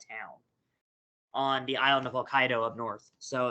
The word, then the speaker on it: Hokkaido: Hokkaido um that is how you say it Hokkaido uh there's a on the island of Hokkaido